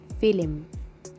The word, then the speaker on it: film: turkish spelling in general the turkish tongue is not that flexible to spell the letters without putting a hidden vowel in between and turks themselves find